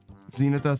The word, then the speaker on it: Zenitha: Zenitha says, pronounced like zenith, meaning peak or powerful.